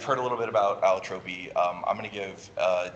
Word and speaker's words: Allotropy: So I say Allotropy. Some people do say Allotrope. This was complicated recently when we learned that the actual pronunciation of that scientific term is Allotropy, which really threw me for a loop. So I continue to say Allotropy for no good reason, just what I started saying.